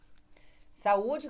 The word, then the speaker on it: saúde: Você faz assim, o saúde. Você viu que a sílaba tônica é o U sozinho.